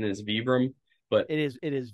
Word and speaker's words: Vibram: I still say for example I still say Vibram but apparently the correct pronunciation is vbr but it is it is vbr but no one says that considering most of